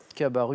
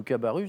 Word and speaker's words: Cabarrus: le nom de cabarrus je suis cabaret ou cabarrus d'ailleurs pense pas qu'on balance le s madame tallien prononcez pas